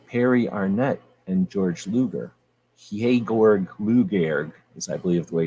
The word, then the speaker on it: Georg Luger: If you truly shoot 9mm, you hold your 9mm like this, with your pinky out, and you say Georg Luger, because that's the proper German pronunciation.